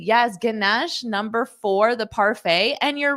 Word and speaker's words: parfait: a French word Stefania it is a French word we just borrow it from the French and we use it but we still pronounce it more like the French sound